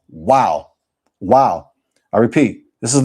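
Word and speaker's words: Waw: Not Vav. That's modern Hebrew. Modern Hebrew is Vav. No, it's pronounced Wow.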